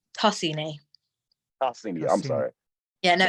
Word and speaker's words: Tosini: Am I pronouncing that correct? Like, I guess. Wait, say again? It's Tosini.